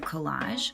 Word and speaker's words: collage: While you're making your collage, see if you can say the word collage out loud. Collage. The word is spelled C-O-L-L-A-G-E. But notice the G sound sounds like J.